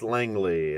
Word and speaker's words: Langley: I pronounce her National problem is it likely Langley I'm a psychologist so it's Spider-Man psychology but it's Dr Langley l-a-n-g-l-e-y all right I apologize for butching your